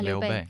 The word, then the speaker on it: Liu Bei: It's where, oh, I'm going to say his name wrong and I apologize. It's a tomb, Liu Liu Bei? Yeah, Liu Bei.